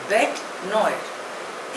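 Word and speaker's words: bête noire: यूएस ए the next word is बेट नोयर spelling is बी ई टी ई एन ओ आई आर E pronunciation is बेट नॉड इट इज अ French word it means अ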